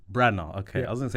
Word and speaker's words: Branagh: Branagh. Okay, I was going to say Branagh.